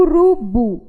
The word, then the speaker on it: urubu: a última sílaba tônica o urubu última sílaba tônica já harley última sílaba